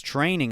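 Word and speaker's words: Treigning: He's in the US and he's training at a place called the Training Lab, but it's spelled T R E I G N I N G.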